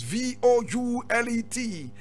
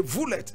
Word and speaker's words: Voulet: Now, Paul is just Paul, P-A-U-L, and Voulet is V-O-U-L-E-T. You say Voulet, correct pronunciation is Voulet.